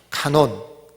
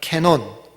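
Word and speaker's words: κανών: 말고 경이라는 말인데이 정경이란 말은 헬라어로는 한번 따라합시다 카논 달말 논이라고 발음할 수도 있고 한번 더 따라합시다 캐논 캐논 들어봤어요 캐논이 뭐죠 그게 그 캐논입니다 그게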